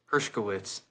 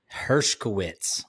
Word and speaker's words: Hershkowitz: how do you say your last name herwitz herwitz I wasn't even gonna try to butcher that